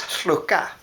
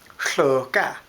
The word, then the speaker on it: hluka: Atna, our word for salmon, is hluka. Hluka. English speakers don't make that hlu sound.